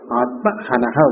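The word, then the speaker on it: आत्महनः: In our book it's spelled as Hanaha. Hanaha is mistake. Hanaha, the short vowel only. It's printed as a long vowel. It's a mistake. Atmahanaha only.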